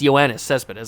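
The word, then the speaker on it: Yoenis Céspedes: It's Ioannis Cespedes. I know how to pronounce it.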